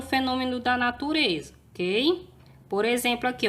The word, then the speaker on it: exemplo: No livro de caligrafia, turma, na página 60, nós temos o X com o som de Z, ok?